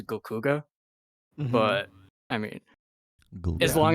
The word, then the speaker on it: GLKHGH: There isn't really a definite way of pronouncing it, but I've always pronounced it as Gokuga.